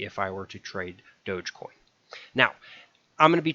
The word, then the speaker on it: Dogecoin: basics first of all it's pronounced dogecoin it's not doggy coin it's not dog coin it's not any kind of variation it's dogecoin a little odd if